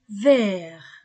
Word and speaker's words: vert: la robe est verte au masculin je ne prononce pas le T au féminin je prononce